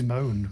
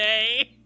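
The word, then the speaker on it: Moné: Who is Mercedes Moan? Because that is. To be fair, it's pronounced. Monet.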